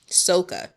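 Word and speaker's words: socca: Sokka? Like from Avatar, The Last Airbender? Sokka. Soka.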